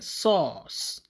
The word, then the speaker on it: source: ok waaye ñu koy lire sauce donc r bi kon kenn du ko liraale the r is silent.